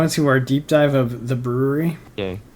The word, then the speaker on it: The Bruery: play on words because it still is pronounced the brewery but has his last name in it so well done well